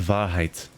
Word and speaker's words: Wahrheit: W is for Wahrheit. Wahrheit? I'm just assuming German in origin. It's apparently German for truth. I think I was right. It was just pronounced Wahrheit.